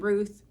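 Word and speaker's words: Routh: I heard his name is pronounced Ruth. I might have pronounced it the wrong way in the video prior, but it's Ryan Ruth.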